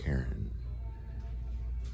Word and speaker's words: Herron: Still looking for Heron though. I thought he sold out, but he didn't. Mick Herron is his name. I always get his name wrong. Mick Herron.